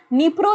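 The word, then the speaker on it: Dnipro: एक नदी बहती है उस नदी का नाम है निप्रो रिवर क्या नाम है डी यहां पे साइलेंट है निप्रो रिवर यहां पर बहती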